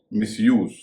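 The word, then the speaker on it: misuse: उसका उच्चारण लूज है। अगला शब्द है मिसयूज।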